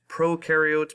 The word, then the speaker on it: prokaryotes: prokaryotes and there are eukaryotes that's how you pronounce those words prokaryotes pro means they do not have a nucleus